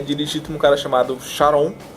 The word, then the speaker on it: Charon: E esse barco é dirigido por um cara chamado Charon, um CH, que pode ter pronúncia de Caron, que vem de Caronte,